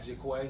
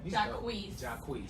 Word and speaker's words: Jacquees: And he got Jaquay, who was that how you say his name? Jacquees.